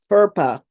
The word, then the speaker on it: FERPA: FERPA. FERPA. No, it's FERPA. FER. I don't know how to even spell it. FERPA. FERPA. FERPA. FERPA. FERPA. Not purple. Didn't sound like purple. It sounds different. FERPA.